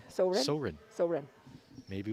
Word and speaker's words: Soren: Oh, it says so, comma, rin. So rin.